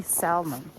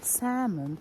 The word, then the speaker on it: salmon: from that there will be salmon oh sorry salmon we don't pronounce l this is a little